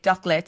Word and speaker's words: Dốc Let: I'm trying to remember how it's spelled. Yeah, DOC. What? LET. So I understand it, Dốc Let in English.